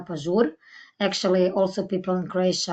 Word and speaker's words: Pažur: Fresco uh already said my name is Monica and it's pronounced Monica pure actually also people in